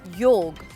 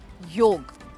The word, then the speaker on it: yog: there is something about yog that I'm unaware of yes that is how it should be pronounced yolk so I'm setting off